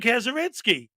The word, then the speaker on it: Kazurinsky: And I go, you're Tim Kazurinsky.